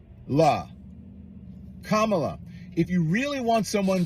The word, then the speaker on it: Kamala: he says K's name you know that the Camila Harris K La Kamala if you really want someone to listen to